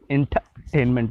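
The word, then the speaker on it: entertainment: इंटरटेनमेंट, inter नहीं बोलेंगे, इंटरटेनमेंट बोलेंगे।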